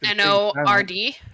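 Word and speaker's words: Njord: it's is it spelled n o r d it's spell NJ pronunciation it would be n y o r d but the Y is very very soft so it's just Nord okay Nord um he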